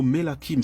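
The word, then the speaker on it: מלכים: Le mot roi, c'est le mot Melakim. C'est comme ça que ça se prononce en hébreu.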